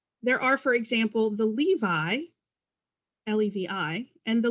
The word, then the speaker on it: Levi: There are, for example, the Levi, L-E-V-I, and the Levy families with a Y, the Meyer families, M-E-Y-E-R, and the Meyer family, M-A-Y-E-R, and both were pronounced Meyer.